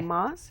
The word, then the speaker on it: Samas: Samas is Okay. the way you pronounce it in Blackfoot, and literally means medicine man's war bonnet.